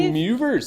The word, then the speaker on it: De Moivre: I believe De Moivre's. I believe this is French and it's pronounced De Moivre's theorem.